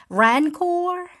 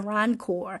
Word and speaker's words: Rancor: But they gifted him a Rancor. I believe I'm pronouncing it right. A Rancor.